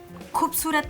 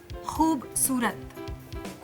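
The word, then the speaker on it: ख़ूबसूरत: तुम खूबसूरत से ना नुक्ता और ऊ की मात्रा हटा रही हो। जब ख में नुक्ता लग जाता है ना तो ख ख नहीं रहता, ख हो जाता है।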